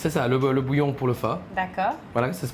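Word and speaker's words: phở: va préparer le sale boulot bouillon pour le phare voilà ça se prononce comme ça le port donc un bouillon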